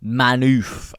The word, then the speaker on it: Manhoef: And he goes by the name of, I do not want to mispronounce this name, but it is manhoef. Manhoef. I believe you would pronounce that manhoef.